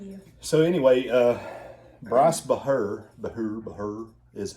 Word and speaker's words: Bahr: when i'm with you so anyway uh bryce bahr the who her is how you say his